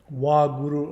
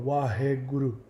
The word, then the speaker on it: Waheguru: Wahe is often pronounced Wah. Wahguru or Waheguru.